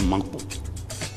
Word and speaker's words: Mankpo: Son nom authentique, c'est Mankpo. Dans Mankpo, nous avons deux syllabes, Man et puis Po.